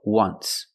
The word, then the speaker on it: once: once but you say there's an o in once that's a vowel but phonetically it's not a vowel phonetically it makes the sound ww like a w ww once so phonetically the t